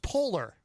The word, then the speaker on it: Poehler: I believe it's pronounced Polar.